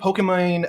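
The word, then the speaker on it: Pokimane: and even i think pokemon um that's actually how you pronounce it um actually made a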